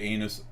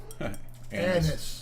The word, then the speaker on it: anise: you did say anus. Anise. Anise.